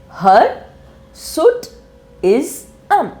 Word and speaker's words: hirsutism: actually a medical term so how do we pronounce it her SU is um that is heroism now what is this medical